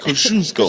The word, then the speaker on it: Kosciuszko: That's what I called it out after I messed up and said Kazuki. Because nobody can pronounce it. No, nobody. Now you can. Yeah. Kosciuszko.